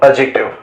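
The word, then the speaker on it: adjective: ওকে, অ্যাডজেক্টিভ দেখো এখানে কেউ কিন্তু এটাকে অ্যাডজেক্টিভ বলবে না, ঠিক আছে? এখানে এই ডি এর প্রোনাউন্সিয়েশনটা হয় না। হ্যাঁ, এই ডি এর প্রোনাউন্সিয়েশন হয় না কিন্তু, কি ঠিক আছে?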